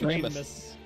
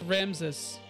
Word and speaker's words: Ramses: It's Ramus. Ramus. Yeah, actually, Frank, it's Ramses.